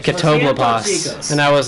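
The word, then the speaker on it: Catoblepas: Guys, it's pronounced Catoblopas. Guys, it's pronounced Catoblopas. Nice. As some inside info in that song, we pronounced it Catableepus because that's what I thought it was pronounced, and then I played the game.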